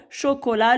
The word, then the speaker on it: chocolat: A-U se lit au chocolat, le T muet à la fin. Je relis. Au goûter, maman sert de glaces. La première à la vanille et la deuxième au chocolat.